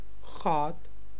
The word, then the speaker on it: gaat: Hoe gaat het? G is pronounced as ga in Dutch.